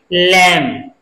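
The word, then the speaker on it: lamb: दी ओ यू बी T silent है इसका उच्चारण क्या होगा डाउट डाउट ल ए एम बी नहीं पढ़ेंगे इसको क्या पढ़ेंगे लंब लंब नहीं पढ़ने हैं इसको क्या पढ़ने हैं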